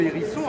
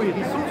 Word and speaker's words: hérisson: Un petit plus du muséum, comme vous le savez, dans sa version courante, le mot hérisson se prononce avec un H aspiré.